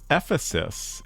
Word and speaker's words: Ephesus: The city is pronounced Ephesus, at least in southern Illinois church.